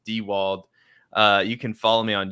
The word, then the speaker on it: Diewold: It's pronounced Diewold.